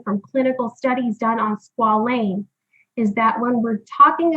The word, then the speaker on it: squalane: So our third product, and I had to be taught this, but it is pronounced squalane, is used to help support a natural product or a natural compound that's found in your body called squalene.